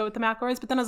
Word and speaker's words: McElroy: McElroy.